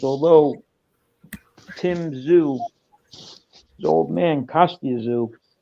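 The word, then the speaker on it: Tszyu: Yeah, it's Zhu, like a very slight Zhu. Tzyu.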